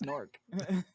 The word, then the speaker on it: Newark: Newark, That's what And- it's pronounced like. and I still don't understand that. It's Nork. It's Newark. Is that English?